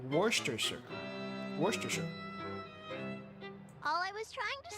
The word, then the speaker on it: Worcestershire: Am I pronouncing it right? Worcestershire. Worcestershire.